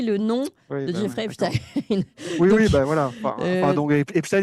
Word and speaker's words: Epstein: fais un petit aparté, moi je prononce Epstein, et il y a beaucoup de gens qui prononcent Epstein, j'ai jamais prononcé Albert Einstein, si vous voulez, hein, on prononce Albert Einstein, et le fait de prononcer non pas Jeffrey Epstein, mais Jeffrey Epstein, c'est déjà un biais